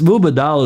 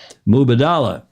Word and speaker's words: Mubadala: mu mu hi it's mubadala is a lot easier it's like Kamala it's a lot easier than Kamala mubadala mubadala mubadala the accent is on the second syllable is it yeah it